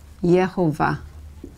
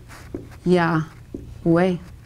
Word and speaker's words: Yahweh: It can also be pronounced with the Y sound. Yehovah. Yeah. Yehovah. In Spain, it's pronounced with the Y, A-H-V-E-H. Yahweh. Or it can be pronounced Yahweh. Yahweh.